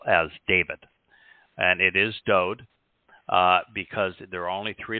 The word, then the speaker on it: Dowd: of literature probably ever written, we find that Dowd is the correct pronunciation of the name that is known by most people as David. And it is Dowd because there are only three letters in his name.